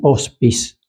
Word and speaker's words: hospice: Estos espacios físicos se llaman hospis, se escribe hospice.